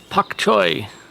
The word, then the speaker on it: pak choy: Pak choy. Man, I've been pronouncing that wrong my whole life. Always thought it was B as in boy, not P as in Paul.